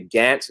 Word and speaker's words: Gantz: butchered your last name but it is actually gantz not grant um i always you